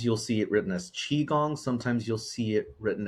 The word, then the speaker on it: qigong: pinion but sometimes you'll see it written as chiong sometimes you'll see it written as Kong or Chong so yeah but the most pronunciation is chiong chiong okay yeah I uh I actually speak